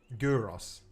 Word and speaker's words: gyros: could do that Gyros it's pronounced like euros guros oh gee Ross I